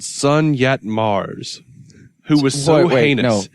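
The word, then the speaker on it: Sun Yat Mars: spell that name sake sun as in the sun yacht or yat y-a-t and then mars is in planet mars okay sun yet mars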